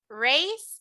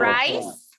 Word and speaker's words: raise: Cuando yo tenga a I, lo pronuncio como E. Raise your hand. Raise your hand. No voy a Raise decir your hand. rise, voy a decir raise.